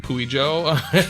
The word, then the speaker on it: Puijo: Is there a We way need- that we could look it up to see how that is actually pronounced? Puijo. Puyo? Puijo? Puijo. It's Puijo.